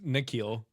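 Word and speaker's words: N'Keal: I can't even pronounce Keneal Harry. There, I did it. Awesome. So JSN. Except that was wrong. Did I get it wrong again? It's Nikhil. God, you say Keneal.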